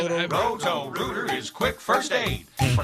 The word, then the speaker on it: Roto-Rooter: I've been pronouncing it Roro, R-O-R-O, and it's R-O-T-O. I'm It way is. off. It's Roto-Rooter.